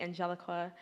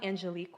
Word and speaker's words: Angelique: name wrong someone people some people call me angelica angelica angelica it's angelique wa and spanish us